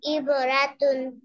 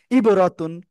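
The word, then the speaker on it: عِبْرَةٌ: দ্রুত বলেন ইবরাতুন হ্যাঁ আবার বলেন ইবরাতুন আমি বানান করতে বলেছিলাম আইন বা জের র জবর রব তা দুই পেশ তুন ইবরাতুন মাশাল্লাহ মাশাল্লাহ মাশাল্লাহ কি ব্যাপার রাখা কান্নাকাটি করছেন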